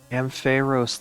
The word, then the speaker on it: Ampharos: I guess I always said Ampharos, but I honestly Ampharos. Ampharos? Did you ever play? Oh, Ampharos, like Pharaoh.